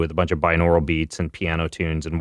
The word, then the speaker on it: binaural: And is it binaural or binary?